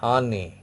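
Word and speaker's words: année: E, that is, it becomes, E becomes A, pronounced like A. Okay, is it clear? Some other examples I am giving you. Say ane, ane, ane.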